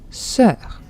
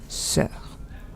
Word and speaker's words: sœur: I know this is a hard one to pronounce, okay, but it's just like Don't worry about the O. It's not there, okay, it's just like the spelling. There's une sœur.